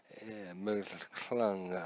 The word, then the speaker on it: McClung: centerfielder and pitching today is Seth macum McClung McClung I'm sure that's how you pronounce it for the Oilers the hometown team